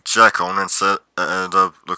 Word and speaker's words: Jekyll: Why do I say Jekyll? Because it's the correct Scottish pronunciation.